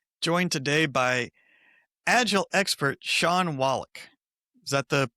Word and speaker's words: Shawn Wallack: the Disgruntled PM, joined today by Agile expert Shawn Wallack. Is that the correct pronunciation of your name there? It is, yes, Shawn Wallack.